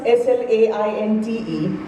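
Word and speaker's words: sláinte: Even though it's pronounced as s l a i n t e, it's actually it's spelt as that.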